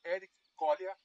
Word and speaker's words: Érico Kolya: Bem, meu nome é Ítalo Pinha, sou da ITT, Nicolau Ramalho, da Nombic, e hoje nós recebemos, agora, né, o senhor Eric Collier, pronunciei correto?